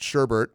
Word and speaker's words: Sherbet: so the spellings are even though it's pronounced Sherbert it's actually sherbet and then Ganesh sherbet